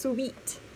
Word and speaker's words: suite: we get a motel suite or a hotel suite looks like suit but it's pronounced sweet that would be a